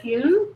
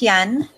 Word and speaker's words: Hyun: because tonight's guests are Judy Blakeney and ku did I pronounce that right its yen yeah and they are going to be talking